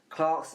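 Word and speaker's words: Clarks: And You've already it said rhymes with Clark's, Marks.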